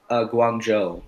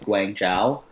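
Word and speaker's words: Guangzhou: was yeah I think I think it's pronounced Guang Joo because at first I was like Guang Jiao right and I was like I wasn't sure but then when I was there they corrected me I was like okay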